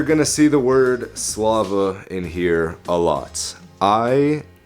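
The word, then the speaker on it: Слава: So glory is pronounced Slava in Russian.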